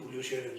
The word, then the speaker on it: Julio Scherer: ¿Está bien pronunciado? ¿Sí? Sí, Julio Scherer, sí.